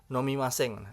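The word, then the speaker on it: 飲みません: Kemudian jika kanjinya diganti menjadi maseng ya sehingga eh sori maksudnya hiragananya kalau hiragananya diganti mim maseng sehingga kanji tambah hiragananya dibaca nomimaseng artinya menjadi tidak minum seperti itu.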